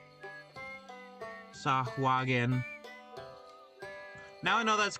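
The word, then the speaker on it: Sahuagin: Is that how you spell that? Or is it s ua swahogen? Hold on. Uh DND R is is Sagen. S A H U u A G I N Sagen.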